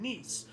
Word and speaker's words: Nice: annexation of Savo and niece it's it's pronounced niece I believe you know like the female version of nephew so not nice but I put that